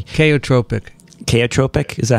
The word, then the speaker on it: chaotropic: antibodies bind um yeah the they use this kaiotropic illusion am i pronouncing that right probably not i never pronounced things correctly chaotropic chaotropic is that how you do it yeah